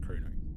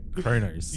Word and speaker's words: Kronos: I didn't like how they pronounced Krono. No, I didn't either. I I fully agree with that. Fully agree with that. It's like watch some Star Trek people before you start pronouncing